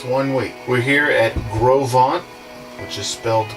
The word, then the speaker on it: Gros Ventre: so this marks one week we're here at Grove on I just felt gross event trip and we didn't know that until till we were here but it's pronounced Grove on so we went to a range of program